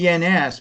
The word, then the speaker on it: Jens: His name is spelled Jens, but it's pronounced with a Y, Jens.